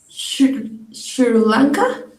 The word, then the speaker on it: Sri Lanka: that three sri lanka just as it sounds not shri not with sh but with sri 3 and not shuri